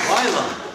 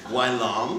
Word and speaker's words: Wai Lumn: It starts with such airy promise. Why? And ends with such solemn resonance. Long. First syllable that begs the question. Why? And of course, that second syllable Look, Wai Lumn.